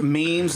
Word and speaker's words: meme: It's pronounced GeoCities, and it's pronounced memes, not Mimi.